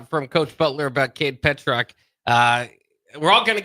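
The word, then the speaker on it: Pietrzak: hear from uh from coach Butler about Kade Petro. Uh we're all kind of getting used to and trying to to say his name there, but it is it's it's it's pronounced Petuck, which is kind of cool.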